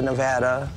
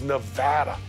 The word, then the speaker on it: Nevada: People mispronounce our state name all the time. You get the Nevada, Nevada. That it's like potato or patata. It's kind of like tomato and tomato. It is Nevada.